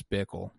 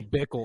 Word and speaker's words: Bickle: I'm with you, Bickle. It's because it rhymes with pickle, but it's not pickle.